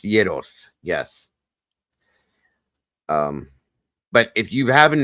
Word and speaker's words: gyros: They are pronounced gyros.